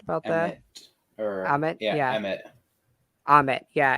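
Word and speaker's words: Ammit: uh you know culture and religion uh with ahmed uh and her avatars believe it's a her right am i correct about that i'm it yeah ahmed yeah it's a-m-m-i-t um it's an e but it's pronounced as an a i don't know why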